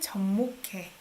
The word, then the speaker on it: 접목해: 그리고 접목해. Sounds like K sound here, right?